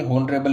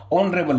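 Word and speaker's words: honorable: अभी यहाँ पर होनरेबल का हमने चेक किया था, ये होनरेबल नहीं ऑनरेबल होता है। जब HO आ जाता है तो एच साइलेंट हो जाता है।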